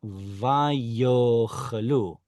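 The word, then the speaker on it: וַיֹּאכְלוּ: Vayiten lifnehem vayochalu. Make sure to pronounce that yod there.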